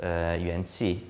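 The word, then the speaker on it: 元气: So it's pronounced yuanqi in Chinese and wengi in Korean.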